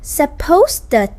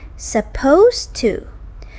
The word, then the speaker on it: supposed: Most speakers actually drop the final D sound in supposed. Right. It's not supposed-ed to, it's more like supposed to.